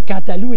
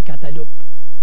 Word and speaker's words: cantaloup: seulement j'ai appris que le mot cantalous se prononcer quant à nous et n'ont pas quant à l'eau et quand vous allez